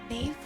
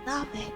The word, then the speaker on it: knave: That's pronounced knave? I thought it was nave.